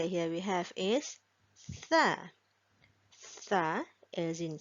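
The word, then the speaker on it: ث: And the next letter here we have is Tha. Tha as in 3 dots, Tha. It starts with a TH sound, sound.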